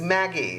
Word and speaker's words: Maggi: It has some, it's pronounced, it's Maggi.